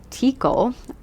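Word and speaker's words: Teackle: an American her father tikle I hope I pronounced that right was how spell it like T like te e a and then CK l e so it's like tickle but with tea yeah he was the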